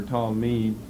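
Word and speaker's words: תַּלְמִיד: Talmud, essentially the same here, T, but this should be a long A for Talmud, T-A-L, silent, Shva, M, Chirik, Gadol, and then a Dalet.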